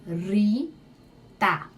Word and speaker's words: Rita: Em espanhol eu pronuncio Rita. Veja que o I e o A são abertos.